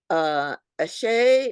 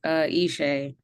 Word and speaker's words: Ishay: Ashay, and if I pronounce wrong, please correct. Hey, Ishay. Ishay, okay.